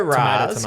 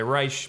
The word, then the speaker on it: Ra's: And Neil Adams co-created in the 70s, or Raish, or however you want to pronounce it. I didn't know that. Let's go Raz, because Nolan said Raz. Yeah. Animated series said Raish. Ra's al Ghul. I've heard Neil Adams say Raz.